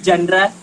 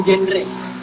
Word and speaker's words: genre: Kayak genre itu tuh bukan genre, tapi genre.